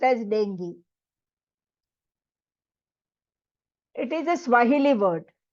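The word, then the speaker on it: dengue: now the spelling is denu but it is pronounced as Deni it is a Swahili word and it means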